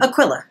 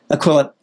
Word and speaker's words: Aquila: And please tell me that I've pronounced that correctly. Aquila. Aquila.